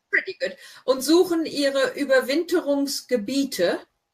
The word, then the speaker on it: Gebiete: Und suchen ihre Überwinterungsgebiete. Remember, IE is the E sound.